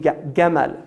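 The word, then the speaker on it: جمل: is from yemen because the egyptians say gemma they pronounced the gene gemmal so when the the europeans first heard it they heard gamal camel right so camel is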